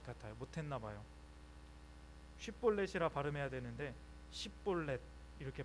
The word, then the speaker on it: 쉽볼렛: 쉿볼렛이라 발음해야 되는데 쉿볼렛 이렇게 발음했던 것 같습니다.